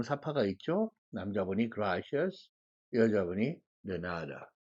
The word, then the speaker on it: de nada: 남자분이 gracias, 여자분이 de nada. 내, 너 중간쯤이 발음이고요. 나의 음이 높고 길어지는 발음입니다. de nada, de nada 이렇게 발음이 되죠.